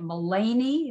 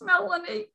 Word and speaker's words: Melanie: down by melanie or somebody once pronounced it mullany and i'm like hi it's melanie uh get ready by